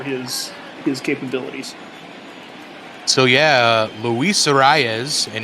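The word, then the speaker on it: Urías: So yeah, Luis Urias, and if you can roll your R's, it's Urias. Urias, yeah.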